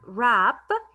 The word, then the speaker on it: wrap: these words for example rap here the word rap the w is silent and i say r